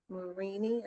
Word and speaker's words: Marini: Forgive me for the pronunciation. Marini, I believe it's Marini.